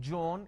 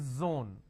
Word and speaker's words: zone: not zebra it's zebra it's not John it is Zone it's not Jill it is Zeal it's a z sound another mistake that people